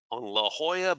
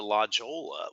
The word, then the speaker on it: La Jolla: the road diet project that took place in La Jolla Boulevard now you might say well ray last time you pronounce it la jolla well you know that's how we say it